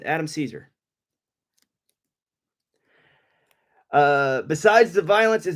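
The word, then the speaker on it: Cesare: uh it's it's like Caesar yes spelled chz the Italian spelling of Caesar but I pronounce it Adam Caesar uh besides the violence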